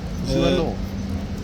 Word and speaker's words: zut alors: Zut alors. Le E, en moins, c'est A, not E. How do you say this yourself in French? Zut alors? Zut alors. Oh, so the T as well.